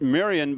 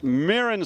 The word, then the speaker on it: Mirren: get the pronunciation of not miriam but mirren so it's mirren swift and he says